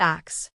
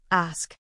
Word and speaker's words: ask: The misprononunciation is swapping the S and the K sounds making it axe.